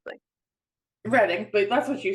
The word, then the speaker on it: Reading: See, this is why I mispronounce things. Reading, but that's what you said the first time.